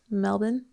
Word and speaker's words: Melbourne: up two male passengers melbourne melbourne is how you say it well according to my mom who went there a few years ago that's how the locals say it oh well i'm not